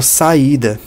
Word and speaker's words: saída: E aí ele dá exemplo da palavra saída, né? Um outro exemplo adicional. Saída. Eu sei aqui que tem um hiato porque eu estou pronunciando o A e o I separado.